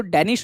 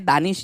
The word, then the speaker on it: Danish: सुनो डेनिश, ठीक है, वैसे ये मेरे नाम की स्पेलिंग की जैसी दिखती है, दानिश जैसी, बट ये एक्चुअली डेनिश है।